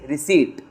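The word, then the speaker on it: receipt: और ये रिसीप्ट नहीं है। यह पी साइलेंट है तुम्हारा। इट्स रिसीप्ट।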